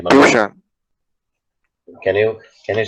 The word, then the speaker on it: Piyushan: My name is Piyushan. Dishan. Right, Mama? Piyushan. Can you spell it?